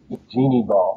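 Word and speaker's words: Jeanne Bal: Now, one person who stood out to me in all this was Jean Ball, I think you pronounce her name? Jeannie Ball.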